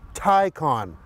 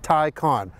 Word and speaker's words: Taycan: It's pronounced Taycan. That's right, not Taycan or Taycan, it's Taycan.